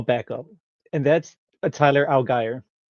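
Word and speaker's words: Allgeier: going to a backup and that's a Tyler Algy right now. He's RB20 Algy. I had I looked it up and he pronounced it alire.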